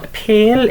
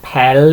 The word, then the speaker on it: pêl: Okay, so pêl is a ball, and it's literally pronounced as if, you know, if you're looking pale. Okay, it's the same sound there. Okay, but of course it means ball. Okay, so pêl. Okay, pêl, as you can see, the toe, the roof on the air, so it's not pel, it's pale.